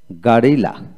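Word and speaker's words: guerrilla: তারপর আসেন গারিলা গারিলা, এখানে গেরিলা বাংলা হলো গেরিলা, এখানে ইংরেজিতে গারিলা জি এ আর এইভাবে হবে, ইউ ই থাকলে আ এক আ এ উচ্চিত হবে।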